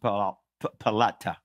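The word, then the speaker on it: פליטה: This word deliverance in the Hebrew is a word that's pronounced palata, and it literally means survivor.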